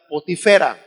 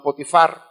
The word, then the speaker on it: Potifar: En realidad la pronunciación más correcta del nombre sería Potifera, no Potifar, pero así quedó traducido, pues, y así lo conocemos como Potifar, ¿no?